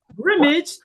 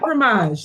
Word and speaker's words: Grimmage: And yes, it is Grimmage, not Grimmage, as some people say.